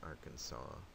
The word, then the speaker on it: Arkansas: The S at the end there is not pronounced. It's Arkansas, Louisiana, Mississippi, Alabama, Georgia,